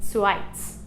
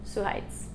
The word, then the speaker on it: Suhaitz: So in his Basque, the H is pronounced. But in, I think, most Basque dialects, it's not. So this could also be just suhaitz, no H.